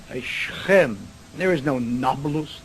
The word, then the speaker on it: Nablus: shechem encoded napolus naples the arabs have difficulty pronouncing a p so nakpolus became number loose and if anything we